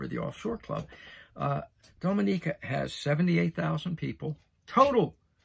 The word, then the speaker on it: Dominica: in the eastern caribbean i'll see there dominica dominica i know i said it right because i spelled it out phonetically for myself dominica all right you're saying